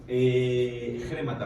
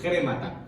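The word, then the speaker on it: χρήματα: La palabra que emplea la traducción o el griego es grámata, perdón, con acento en la E, es como remata, pero le ponemos una J antes, grémata, ¿vale?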